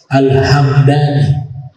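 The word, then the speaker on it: الهمداني: qabilah dan cara bacanya kalau yang suku huruf mimnya dis suukun alhamdani bukan Al alhamadani al-hamdani kalau nisbatnya nama tempat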